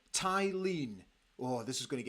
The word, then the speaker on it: Thelin: David gold says uh yimy T tyen is how the swedes pronounce it yimy tyen oh this is going